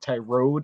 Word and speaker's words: Tyrod: And what the thing with the Texans is Tyrod, I think it's actually, he likes to pronounce it Tyrod is how it's actually pronounced.